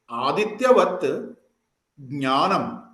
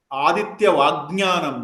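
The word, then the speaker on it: आदित्यवत् ज्ञानम्: But while pronouncing, we should never pronounce it as Adityavat Adityavajnanam. No, it is not Ajnanam. So, while pronouncing itself, you have to bring that ta somehow. Adityavat means like sun, brilliant like sun.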